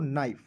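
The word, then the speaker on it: knife: एन आई एफ ई तो कनाइफ नहीं पढ़ेंगे इसे पढ़ेंगे दोस्तों नाइफ। ठीक है? ए के एन आई एफ ई तो पढ़ेंगे दोस्तों नाइफ। के को साइलेंट करना है।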